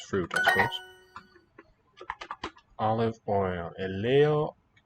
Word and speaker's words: ελαιόλαδο: Eleolado. And note that epsilon and alpha iota are both pronounced e.